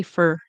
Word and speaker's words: for: And we don't always say for. We tend to say for. It rhymes with her when it's in a sentence in the middle of a sentence.